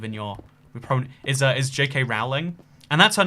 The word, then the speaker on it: Rowling: It's actually pronounced Rowling.